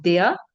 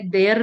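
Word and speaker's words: der: जिस चीज को हम मैस्कुलिन कंसीडर करेंगे उसका आर्टिकल हम लिखते हैं दया। ठीक है? आप देख रहे होंगे मैंने देयर नहीं कह रही मैं। आर को हम साइलेंट पढ़ते हैं।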